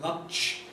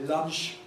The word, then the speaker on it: lunch: we write in italics, the letter T in lunch in italics, because you can say lunch if you feel so inclined. Some say lunch, others say lunch. On the whole, we recommend lunch, so italics letters we